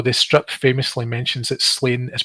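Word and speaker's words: Sláine: to hear though this strip famously mentions that slain is pronounced shlonya but he's most definitely slain in this overall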